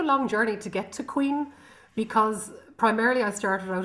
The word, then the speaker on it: Caoin: But your beautiful album, I believe it's pronounced Cuain. Cuain, that's correct.